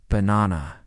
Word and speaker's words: banana: For example, in the word banana, the stress is on the second syllable, banana.